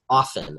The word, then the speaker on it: OFFN: So we did, for example, we did the One Oklahoma Friction-Free Network, which is pronounced OFFN, O-F-F-N.